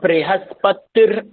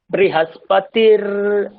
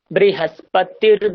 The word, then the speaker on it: बृहस्पतिर्: তারপরে বৃহস্পতির দধাতু, ওখানে দেখুন কোনো দীর্ঘ নেই, বৃহস্পতির টানলে হবে না, বৃহস্পতির দধাতু।